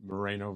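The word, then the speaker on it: Moreno: And that's what they call the Mareno Valley. Correct. Did I Did I pronounce it correctly? Mareno Valley. Marino Valley.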